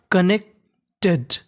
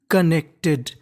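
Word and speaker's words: connected: उच्चारण करना है यानी एन यहां पे दो बार लिखा है लेकिन बोलना केवल हमें एक बार है तो क्या बन गया देखो कनेक्टेड कनेक्टेड कनेक्टेड का मतलब जुड़े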